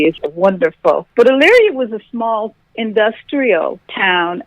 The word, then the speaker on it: Elyria: Now, you come from the small city of Elyria, Ohio. What type of a child... I think I pronounced it right. What type of a childhood did you experience there? You sure did. Yeah, I've been working at it. oh, my goodness. Just the fact that you pronounced it correctly is wonderful.